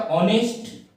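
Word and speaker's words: honest: है, ऑनरेबल, और यहां पर क्या आता है, ऑनेस्ट, और यहां पे क्या आता है, एयर।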